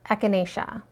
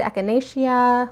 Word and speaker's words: echinacea: talk about the herb echinacea or some people like to like put more syllables into it echinacea like whatever echinacea also called coneflower there's